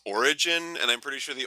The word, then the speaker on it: Oregon: beautiful scenery and pronounced it's pronounced origin and I'm pretty sure